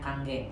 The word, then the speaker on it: Kangen: Jadi Kanggeng, bacanya Kanggeng, sanes kangen ya, sono.